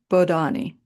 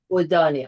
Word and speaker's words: Bodhani: And my last name is pronounced Bodhani. Bodani. I'm so sorry. Banani. That is okay. That is okay. It just otherwise ends up sounding like Houdini, who I admire, but